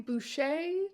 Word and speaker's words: Bucci: He also apparently pronounces his name Bouchet despite the fact that it really really looks like Bucci written down.